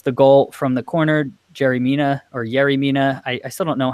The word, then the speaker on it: Yerry Mina: It's spelled with a Y, but I've heard in Colombia you pronounce it as a J.